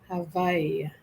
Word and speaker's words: Hawaii: Va, as in victory. Hawaii.